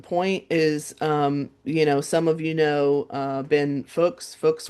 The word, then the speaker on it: Fuchs: So, Fuchs, right?